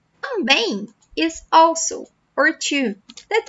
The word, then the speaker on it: também: Pay attention to the pronunciation at the end of this word. So, it's not também, também. No, também, também.